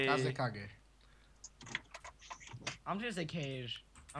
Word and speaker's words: Kazekage: You're not even pronouncing it right. Fuck. Oh, darn it. How the fuck do we pronounce it then? Just call me. Kazekage. It's Kazekage.